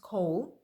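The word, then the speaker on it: קול: in the hebrew it is h6963 pronounced co the definition from an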